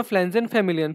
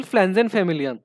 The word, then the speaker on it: Pflanzenfamilien: ये जो सिस्टम है उस सिस्टम को पब्लिश किया है डाय नॅचरलिकेन फ्लॅन्झेन फॅमिलियन, पी इज साइलेंट.